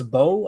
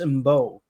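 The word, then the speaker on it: Mbow: I've heard people say it's Bo. I've heard people say it's Mbo. What are you guys saying? The M is silent.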